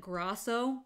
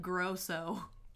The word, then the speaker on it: Grosso: together you see Lorenzo you spelled my name phonetically right cuz he spelled it Grasso and it is announced that but it spelled like Grosso but don't ever say